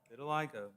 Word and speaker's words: vitiligo: And so I want to make certain I'm pronouncing it right. Vitiligo? Vitiligo.